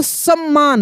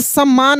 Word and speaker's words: सम्मान: जब भी कोई भी शब्द जब उसका उच्चारण हो और जिस अक्षर पे जोर लगे इसका मतलब उसमें एक आधा है, एक पूरा है। जैसे सम्मान है।